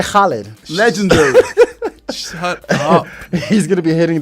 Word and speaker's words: Khaled: story of the day DJ holid DJ Khaled that's how you put another valid solid another one proper pronunciation DJ holid legendary he's gonna be